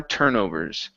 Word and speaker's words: turnovers: After a few more turnovers. After a few more turnovers. Okay, this is turnovers instead of turnovers. The stress is at the beginning.